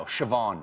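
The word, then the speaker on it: Siobhán: How do you think that's pronounced? This one I know. Siobhan.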